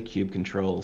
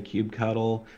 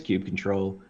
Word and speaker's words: kubectl: I love, and by the way, I say kube control. Some people say kubectl. I've heard all kinds of crazy pronunciations, but for me, it's kube control.